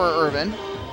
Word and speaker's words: Irvine: Irvine tried to hit the same spot. Irvin, excuse me. It looks like Irvine. His name is spelled like Irvine, I-R-V-I-N-E, but it is pronounced Irvin from what we were